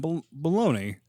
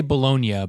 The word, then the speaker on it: Bologna: out loud, I thought, is this man's last name Baloney? Is that the proper way to pronounce that? And I'm sure he'd say Bologna, but like it's Joey Bologna.